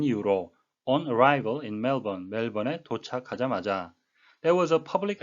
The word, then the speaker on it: Melbourne: 멜번, 호주의 제2대 도시인데요. 우리말로는 멜버른이라고 표기를 하고요. 영어식의 발음은 멜번이 되겠습니다.